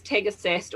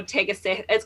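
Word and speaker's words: tagasaste: Yeah, also known as Tegasast or Tegasast. It's got an E on the end, so okay. Tegasasti.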